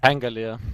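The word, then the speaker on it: Pangolier: ways we got armadillo man how do you pronounce his name by the way anger Leah thank you angle crap okay the BBC science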